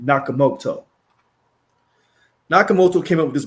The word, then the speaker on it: Nakamoto: Nakamoto.